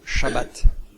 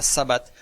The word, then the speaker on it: Shabbat: Normalement, on devrait dire Shabbat. Et petit à petit, on vient à Sabbat.